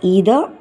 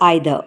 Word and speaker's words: either: You can pronounce it as either or either. Both the pronunciations are correct.